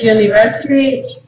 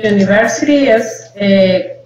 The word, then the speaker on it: university: Ah, pero ¿cómo es la pronunciación? Es de una consonante.